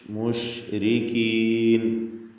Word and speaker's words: المشركين: മഷി എന്ന് പറയുമ്പോൾ ഷാ വല്ലാതെ ഉള്ളിലോട്ട് പോയിട്ടല്ല. മുഷ് മുശ്രിക്കീൻ എന്ന് ഉച്ചരിക്കുക.